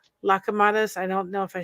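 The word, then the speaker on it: λουκουμάδες: And if you go, there's something, if I can say it right, lakamadas. I don't know if I said it right. I probably didn't. Lukamadas.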